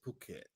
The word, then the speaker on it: Phuket: This word is fucking. All right. It's Phuket. All right. Phuket. All right.